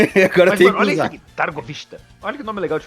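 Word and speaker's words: Târgoviște: cidades maiores de Valáquia ou de de de dargovista. Targovista.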